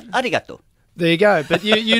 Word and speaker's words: Arigato: You've said it wrong. It's arigato.